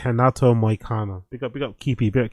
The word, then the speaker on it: Renato Moicano: The pronunciation is Renato, not Renato. It's Renato Moicano.